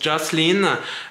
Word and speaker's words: Jocelyn: Donc Jocelyn, en anglais, ça se prononce Jocelyn.